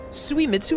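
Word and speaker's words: Suemitsu: called me the uglier suiu he always compared me to him and I could never beat him in anything suitsu is how you pronounce that there was a time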